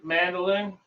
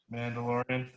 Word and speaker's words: Mandalorian: And also the new one, Mandolin. How do you say it? Mandalorian.